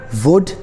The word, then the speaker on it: would: L is not pronounced in some cases when it is before D. For example, would, could, should. Third rule is L is